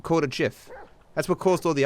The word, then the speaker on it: GIF: But I mean, it's like gift. GIF. You feel me? Am I wrong here, people? Am I speaking crazy talk? If gift is said like that, then you drop the T and it's GIF.